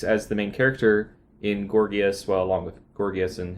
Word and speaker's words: Gorgias: and from Plato we read Gorgias, or you might say Gorgias. Gorgias. Whichever you prefer. We're not academics, so High church pronunciation. I can honestly say I've heard it several ways now. So, Gorgias, I'll probably say that.